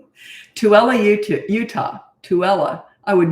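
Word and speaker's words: Tooele: mind okay H oh it's pronounced tuella oh tuella I would not have guessed that tuella UT Utah tuella I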